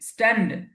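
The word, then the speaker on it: stand: এই যে এখানে এস এর স্ট্যান্ড, উচ্চারণটা অল্প হবে। স্ট্যান্ড, স্ট্যান্ড, স্ট্যান্ড, স্ট্যান্ড।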